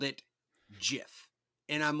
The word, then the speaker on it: GIF: said that the creator of it called it Jif and I'm like who am I identify this